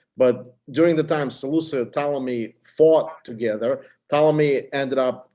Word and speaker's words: Ptolemy: this is this is Ptolemy I mean the p is silent this is Ptolemy Yeah Yeah so basically